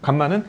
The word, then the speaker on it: 감마: 요거 r이 아니라 감마야. 감마. 그래서 r은 요렇게 쓰고 감마는 렇게 써. 헷갈리는데 그냥 어 알파 베타 옆에 있는 건 감마라고 읽으시고요. 단독으로 렇게 써 있으면 r이라고 읽으면 돼.